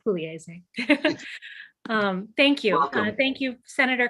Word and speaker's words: Pugliese: My family anglicizes it to Pugliese, but yes, in Italian it's Pugliese.